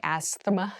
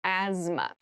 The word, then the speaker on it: asthma: has very interesting spelling there's a th in the middle but we don't say Asma we say asthma so kind of ignore